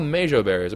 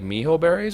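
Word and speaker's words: Mejoberry: And apparently these aren't called mejo berries. Apparently like mijo berries or something like that, so I've been pronouncing it wrong this entire time.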